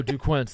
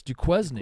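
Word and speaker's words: Duquesne: days ago or whatever even if you're trying to mispronounce it it's dzn not yeah duquin like in Middle School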